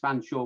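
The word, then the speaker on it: Featherstonehaugh: say in that but mrs fanshawe was one of the english upper crust and so she might be called mrs vanshaw but her name was spelt featherstone huff but pronounce fanshawe so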